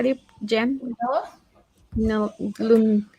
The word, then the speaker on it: Lunella: But okay, so how do you pronounce her name? Lunel? How do you, Jen? Lunella?